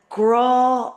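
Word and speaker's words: grá: And she gave me a grow more. Grow is love. Again, we have the father, the accent, stretching that word out.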